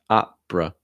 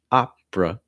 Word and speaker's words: opera: ah it's like opera opera notice that last syllable is a schwa sound so just a quick uh uh opera opera all right let's read